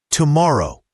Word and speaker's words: tomorrow: And tomorrow has the stress on the second syllable. Tomorrow.